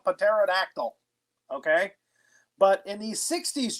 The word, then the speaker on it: pterodactyl: pterodactyl or the peter the pea is definitely silent you know the scientists thank you for asking the scientist it's pterodactyl yes okay that's why